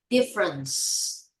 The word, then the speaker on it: difference: C, not sh. She, no. C. Whenever you say CE, it's very easy. Just like a C. C, not sh, no. CE, seed. Difference.